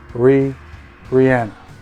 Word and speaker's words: Rihanna: Yeah, Rihanna. That's how you pronounce it.